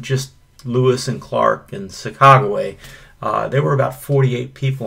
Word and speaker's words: Sacagawea: Many people call her Sacagawea, but I believe the correct pronunciation is Sacagawea.